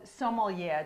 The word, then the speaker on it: sommelier: So, sommelier, did I pronounce that correctly? You did, yep, absolutely.